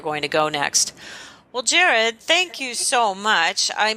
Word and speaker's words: Gerard: So Gerard is spelled like Gerard, Gerard, and is spelled like, good French name.